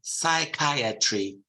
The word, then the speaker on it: psychiatry: is a of course these are Greek words and they're psychology and Psychiatry not psychology or psychology